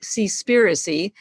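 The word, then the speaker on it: Seaspiracy: not yet seen the movie the netflix movie see spiricy it's spelled s-e-a-s-p-i-r-c-y i urge you to watch it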